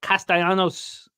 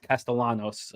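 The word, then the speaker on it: Castellanos: I know he like Javier likes to pronounce it like that Nick wants the uh you know the the Bumpkin version castalanos over one and a half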